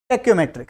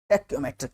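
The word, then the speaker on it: tacheometric: आगे बात करते हैं टेकोमेट्रिक सर्वे कौन सा सर्वे है टेकोमेट्रिक सर्वे है ना कुछ टेकोमेट्रिक बोलेंगे कुछ टेकोमेट्रिक बोलेंगे जो भी आपको बोलना है स्पेलिंग लिखी हुई है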